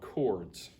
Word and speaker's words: chord: to be talking about chords okay i know it looks like chords with a ch but it's pronounced like a k chord like an electrical